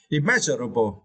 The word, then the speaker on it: immeasurable: you can see now the phonic energy should strength the second syllable me yeah immeasurable yeah and remember and remember you should not pronounce IM yet have the letter M it is wrong you should pronounce immeasurable right yeah and here the